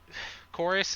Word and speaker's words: Koris: And Koris is the pronunciation of your character's name?